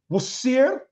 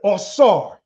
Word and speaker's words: Osiris: And when we look at the hieroglyph for Osiris, we see that Osiris is pronounced in two ways. Wasir and Osar, smash.